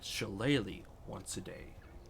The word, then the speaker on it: shillelagh: And it also allows you to cast a special spell called Shillelagh once a day. Is that how you pronounce that word? Shillelagh? Yeah. Yeah. Well, Yeah, today shillelagh.